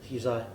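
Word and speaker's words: Hysaj: Uzai. Uzai. Oh. Yeah, That's how you say it. LC Uzai.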